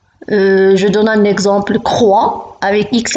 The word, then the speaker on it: croix: par exemple le x je donne un exemple croix avec mx à la fin le hic se prononcent pas 2 2 vous avez x à